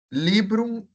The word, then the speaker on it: librum: Filius amici librum discipulo magna cura legit. Se a gente for olhar o M final, ele tem uma pronúncia diferenciada também. Ele é pronunciado assim, ó, como se tivesse um pequeno ezinho depois dele, como se fosse isso daqui, ó.